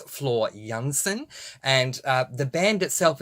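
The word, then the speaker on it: Floor Jansen: serame starts with j she was born in Holland so the J is pronounced as a y so it's Flor Jansen and uh the band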